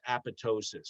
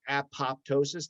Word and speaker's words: apoptosis: is this concept of apoptosis which robin just mentioned and just so you know it's a-p-o-p-t-o-s-i-s it's spelled apoptosis the second p is silent so if you talk